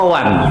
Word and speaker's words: one: Bahasa Inggris satu apa one apa wan? atau ditanya Inggris. Hah? Ya, tulisannya tapi kan bacanya Wan.